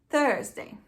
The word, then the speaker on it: Thursday: Thursday, tá?